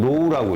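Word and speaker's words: ρ: 비저항 로우라고 읽어, 로우.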